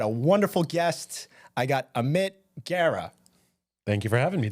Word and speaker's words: Amit Gera: I got Amit Gera.